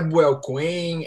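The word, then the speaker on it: Buell Quain: Como que se pronuncia o nome do protagonista? É Buell Cohen? É Bill Cohen?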